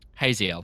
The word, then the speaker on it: Haziel: Because that's what I'm getting from your Haziel. the skim. So Hazel. like Like Hazel, but with more with more more- pretentious.